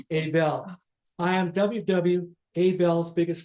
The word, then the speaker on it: Abell: am ww Abel see I pronounce it AEL for 30 years so it's going to be very very difficult for me to say Abel I am ww Abel's